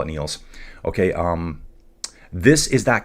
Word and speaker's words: Niel: Uh you say it like Neil Armstrong. So it's Neil's Neils.